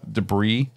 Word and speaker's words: debris: piles of debris The debris debris debris there is no Breeze the S is silent um but you know